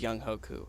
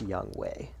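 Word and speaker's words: Younghoe: I don't know the the broadcaster's were saying young way I I'm pretty sure on the depth chart he's this is young Hoku I don't know though yeah but I think it's pronounced young way really I think that's crazy yes at least that's how they said it on NFL Network sorry ku he scored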